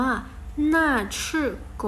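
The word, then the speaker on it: 那是狗: พูด ยัง ไง เอ่ย ชื่อ ภาษา จีน จะ ออก เสียง ว่า หน้า ชื่อ โก๋ น่า รัก ษื Go เห็น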